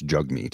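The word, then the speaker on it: Jagmeet: should call him now I know it's jug meat is how it's pronounced but zigzag Jag because of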